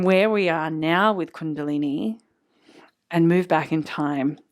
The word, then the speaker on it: Kundalini: from the tantric texts is the idea of Kundalini. So first of all, I was saying it wrong. I was saying Kundalini.